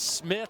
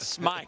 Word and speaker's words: Smith: duck out and says it's Smith not smite thank you right